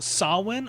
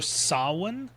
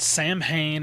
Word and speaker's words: Samhain: It's not Sam Hayne or anything like that because the mh in sin in Irish Gaelic makes more of a w sound.